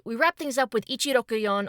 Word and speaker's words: Ichiroyon: And finally, we wrap things up with Ichiroyon or Hiroshi, aka 164. Hiroshi is his given name, and the kanji for 1, six, and four can be read with the same pronunciation.